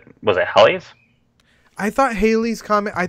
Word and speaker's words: Halley: Yeah, Halley's Comet. That's not. You said Halley's. I said Halley's. Yeah, it's pronounced Halley.